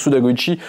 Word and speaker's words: Suda Goichi: Goichi si on est si on la joue puriste on la prononce à la japonaise donc Suda Goichi le papa de nomorirose